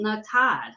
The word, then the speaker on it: Natan: It's actually said how it's spelled, Natan.